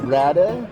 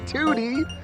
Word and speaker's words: Ratatouille: It's Ratatouille. Ratatouille. No, it's not Tootie. It's Ratatouille. Ratatouille. What's wrong with me? Ratatouille. There it is. That was it. I did it! Yeah. Ratatouille.